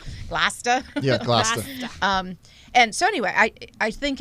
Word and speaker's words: Gloucester: Yeah, Gloucester.